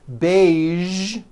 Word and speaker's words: beige: Now, there are only a few words that have the voiced zh sound at the end. A few of these words are the color beige, the word massage, and the word prestige.